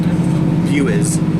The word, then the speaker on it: Bures: And this was the other thing I discovered, it's pronounced Bures. Imagine there's a W in there.